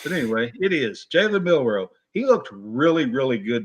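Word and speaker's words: Jalen Milroe: Jalen Milrow. Jalen Milrow.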